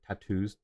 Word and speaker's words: tattoo: Uh curious about the pronunciation of the word tattoos. Two T's, two O's, but it still emphasis the A more tattoo.